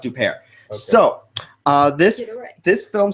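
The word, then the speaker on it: Huppert: uh oh no and on new upare it's pronounced upare so uh this this film stars uh Isabella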